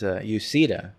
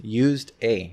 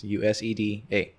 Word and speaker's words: Useda: My last name is Useda, so it's used A. That's how you spell it. It's Useda. You say Useda, any of those variations.